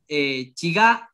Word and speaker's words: chigá: sorprendió porque por ejemplo, la palabra chigá, el acento va al final, es una palabra aguda, entonces el acento es en la última sílaba, entonces si hay palabras